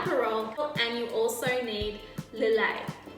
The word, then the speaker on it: Lillet: you'll need a parole and you also need delay it's pronounced delay not Lilith alright just wanna make sure that you know